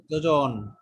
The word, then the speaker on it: যোজন: Right, যোজন। অর্থাৎ এখানে অন্তঃস্থ জ আর বর্গীয় জয়ের উচ্চারণ কিন্তু এক।